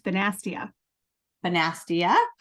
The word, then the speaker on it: Bonastia: how do you say your last name it's basa bastia with us from the link and she is